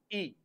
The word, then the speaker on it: y: Spanish is एंड एंड the pronunciation of वाई इज ई सेसता ई then one